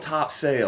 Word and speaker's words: Topsail: little kid top topsail it's spelled top sale it's right and that's the way i know that's top sale okay tonsil all my